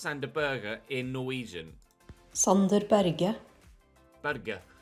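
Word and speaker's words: Sander Berge: Berge. So it is a hard G, not like a Berge.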